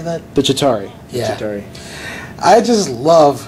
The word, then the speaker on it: Chitauri: The Chitauri.